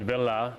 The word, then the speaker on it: Ville: SB Villa is spelled V-I-L-L-E, like it looks like Ville, or, you know, but Villa is how you pronounce it.